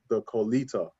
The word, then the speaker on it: Clotilda: Some people call it Calito, and I call it the Colita. And that is, and the Colita is was the last known slave ship that was known to my knowledge in history, and that is spelled Clotilda.